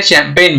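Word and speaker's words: champagne: उसी तरह से शैंपेन में जी और एन यहाँ पे है, जी हो गया साइलेंट लेटर और एन यहाँ पे प्रोनाउंस करते हैं।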